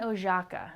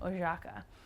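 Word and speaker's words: Oszajca: oh my God joh John oaka is how you say his last name oaka um he is a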